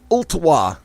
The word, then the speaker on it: Ottawa: night February the 10th in Ottawa I do pronounce the L sorry about that if I